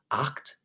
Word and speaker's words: acht: so when you and your mouth is gonna open up all the way so it's acht and your tongues gonna be at the back of your mouth and it's gonna be at the bottom back of your mouth if that makes sense so I'll say it